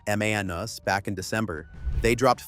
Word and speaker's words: Manus: They acquired the AI agent startup Manus for pronunciation, Manus, back in December.